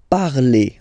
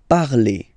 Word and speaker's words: parlez: Vous parlez. Okay, remember a Z, when you combine them together, you get the sound E. Vous parlez.